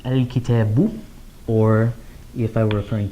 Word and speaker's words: الكتابُ: I would add a dhamma there, so I would pronounce it al-kitabu.